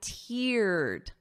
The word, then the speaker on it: tear: But listen to the pronunciation. I teared up. Ear. So I wrote it out phonetically for you. Ear. So that long E sound.